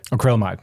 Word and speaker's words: acrylamide: Acrylamide? Acrylamide, right.